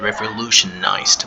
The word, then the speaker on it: revolutionized: Now the past tense of revolutionize is revolutionized with a D at the end, and the D is pronounced as D.